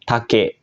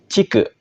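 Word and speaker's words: 竹: saja kita ke kunyominya untuk kunyominya dia dibaca take yang artinya bambu untuk Ong yominya Cik langsung saja kita ke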